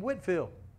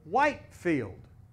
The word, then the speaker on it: Whitefield: revival now over here they did not pronounce his name whitfield over here they pronounced it whitefield how many know there